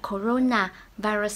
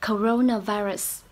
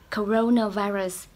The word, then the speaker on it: coronavirus: Từ coronavirus season, chị đang đọc là coronavirus season. Thì từ này có 5 âm tiết, coronavirus, 5 âm tiết. Những âm sau mình sẽ đọc âm yếu thôi, ơ thôi ạ. Coronavirus, coronavirus.